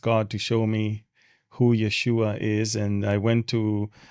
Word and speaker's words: Yeshua: Achronot, and it says Yeshua on it, which was the right spelling and the right pronunciation of Jesus's name in Hebrew.